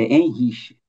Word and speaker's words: Henrique: Bom, é quase isso, mas é difícil mesmo. É Henrique. Henrique, perfeito. Isso.